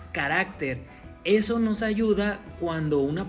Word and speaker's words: carácter: y es una incorrección después carácter y carácter la forma correcta es carácter eso nos ayuda cuando